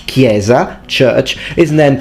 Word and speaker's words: chiesa: a k sound like kieza church is then pronounced chiesa with a chur for from our perspective that sounds absolutely awful and crazy i mean everyone knows it's pronounced gamba and kieza but for future italians